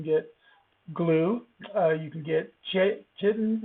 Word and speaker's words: chitin: glue, you can get chitin or chitin. It can be pronounced either way. Chitin is actually the literal way to pronounce it.